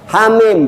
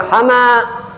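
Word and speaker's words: حم: Hamim bacanya hama.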